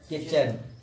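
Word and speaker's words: kitchen: तो क्या पढ़ेंगे, किचन, यानी कि जब टी और सी एच होती है, टी के बाद सी एच, तो टी साइलेंट, टी साइलेंट, ठीक है।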